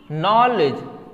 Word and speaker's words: know: इसी तरह से नो, KNOW, नो, नो means क्या होता है, जानना। यहां पे के क्या है, साइलेंट है, क्या है, साइलेंट है।